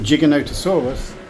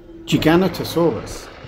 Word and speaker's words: Giganotosaurus: toes on each foot Giganotosaurus is pronounced like this jig aoo s r it has six syllables